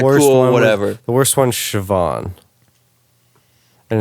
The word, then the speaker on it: Siobhan: say vibin does not say siobhan like where there's a v yeah where's the v and you're putting like a c as well yeah where's the sh like you sweet chevin when you like pronounce it like that and you know that